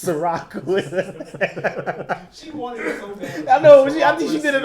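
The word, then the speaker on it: Cîroc: a see Terry as in the drink it's Ciroc I know he did it on purpose it's spelled s I are a CH Surratt but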